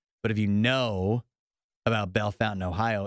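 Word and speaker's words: Bellefontaine: about Bell Fountain Ohio it looks like it should be pronounced Bell Fontaine and there's a million places in the midwest that look like they should be pronounced something French and they're pronounced in the least French that way you can possibly imagine um Rachel's right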